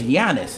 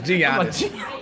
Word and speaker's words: Giannis: It's Giannis. You don't pronounce the G? Lord. Yeah, I knew that. I'm sorry. He said Giannis. Giannis.